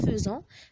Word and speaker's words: faisant: Et faites, attention, avec faisant, il s'écrit faisant, se prononce faisant.